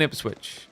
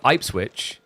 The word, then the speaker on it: Ipswich: It's like, you know, I live in Ipsswitch and that's how we pronounce it. But there's actually a city in Australia called Ipswich as well. If they called it IP switch, I don't care.